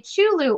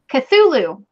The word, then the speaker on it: Cthulhu: Okay, Ornaments is giving away a Chulu ornament, which I'm hoping I said right. No, how do you say that? Cthulhu.